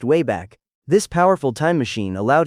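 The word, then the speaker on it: WABAC: Among Peabody's many innovations, one invention stood above the rest, the Wabbeck machine, pronounced way back.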